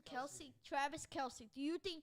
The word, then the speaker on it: Kelce: Kelce.